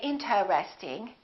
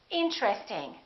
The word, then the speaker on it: interesting: at a few more most people don't say interesting they say interesting interesting this TR R are connected interesting look at this